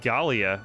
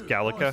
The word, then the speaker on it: Galica: It sounded like you said Galia. It's Galica. Oh, Galica.